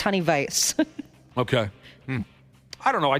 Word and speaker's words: Honey Weiss: That one in uh people cannot wrap their head around the fact that it's not Honey Weiss, it's honey vice.